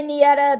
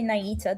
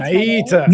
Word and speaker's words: Nieta: And you can say Nieta, that's how it's said in Spanish, but I say Naita, that's how I pronounce Naita.